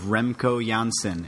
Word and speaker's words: Remco Janssen: by the name of Remco Janssen, and he is coming straight from Amsterdam. Remco, tell the nice people who you are and what you do. Yes, well, you pronounce it perfectly for an American.